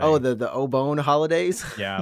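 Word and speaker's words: お盆: pronunciation or something yeah the way that you pronounce it made it sound like oh bone or something oh the obon holidays yeah like it's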